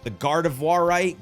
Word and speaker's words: Gardevoirite: I claim the currently available mystery gift for a female Ralts that comes with the Gardevoirite, it's Gardevoir with "ite" at the end, you know what I mean.